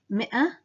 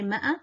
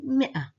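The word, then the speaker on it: مئة: The 100 in Arabic, mi'a, is written with a silent alif, but which is not pronounced. So it's mi'a, mi'a. We don't say ma'a, we say mi'a, mi'atan.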